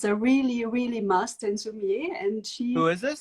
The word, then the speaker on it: Sumi-e: The Japanese technique is called Sumi-e. It's spelled S-U-M-I and E.